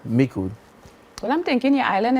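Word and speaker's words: Micoud: I grew up in the born and raised in the fishing community of Mikud. It's pronounced Mikud. Mikud.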